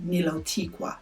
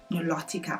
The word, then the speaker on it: Nilotica: How do I even say it again? Nilotica. I was saying Nilotiqua. Nilotica. I think I said that right.